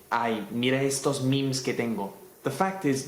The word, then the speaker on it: meme: The fact is though that the word was created to rhyme with G. And so in Spanish you already say genes, so saying memes kind of makes sense. Although, when you speak English, I would recommend saying memes.